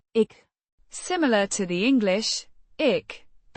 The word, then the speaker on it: ik: It's the first person singular pronoun pronounced ick.